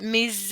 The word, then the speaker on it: mes: Mes parents, mes, the S is not pronounced. Mes amis, however, that S is pronounced. We bring it out as a Z, mes amis.